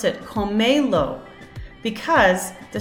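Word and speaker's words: cómelo: So comelo. 1, 2, 3. So since the stress naturally falls on the second to last syllable, if the word ends in a vowel, which is this, see it's S or a vowel. So a vowel, N or S.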